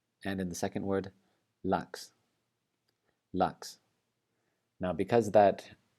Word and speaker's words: lax: And in the second word, lax, lax.